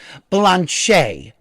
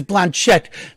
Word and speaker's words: Blanchette: a little attention and her character's name is ruda blanchet but it is spelt blanchette and so what she constantly says is when they call her mrs blanchette the t's are silent here is ruda blanchet